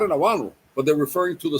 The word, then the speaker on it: habano: In Spanish we say we call it aano.